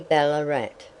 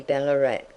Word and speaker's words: Ballarat: that the original and native name was Ballarat, or Ballarat, which was the pronunciation then, and for some years after. But our English way is to be put the emphasis on the first part of a polysyllabic word.